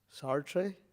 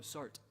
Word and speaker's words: Sartre: um in uh in a conversation with a disciple um discussing Sartree. I don't know how it's pronounced. Is that how it's said? Satre. Oh, Sart. Sart.